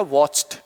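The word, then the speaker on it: watched: ये वाला च, और इसमें हम यदि ईडी ऐड कर रहे हैं तो इसका प्रोनाउंसिएशन क्या हो जाएगा? ट। और ये जो च है वो कैसा हो जाएगा? आधा हो जाएगा। अब ये प्रोनाउंसिएशन बन गया वॉच्ड।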